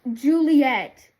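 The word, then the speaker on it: Ghiuliyette: Yeah, it's like I'll I'll either underline that or it's spelled G H I U L I Y E T T E pronounced Juliet.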